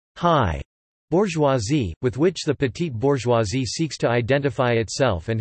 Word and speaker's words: petite bourgeoisie: Petite bourgeoisie, French pronunciation, petite bourgeoisie, literally small bourgeoisie, also petit bourgeoisie, is a